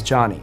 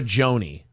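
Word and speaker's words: Jony: no just hold on it's normal for someone to pronounce my name like joni but if i were to tell you over and over again my name is johnny and you insist on mispronouncing my name i would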